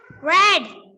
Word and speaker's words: read: do you read that red red yes same spelling r-e-a-d but it's pronounced red all right okay so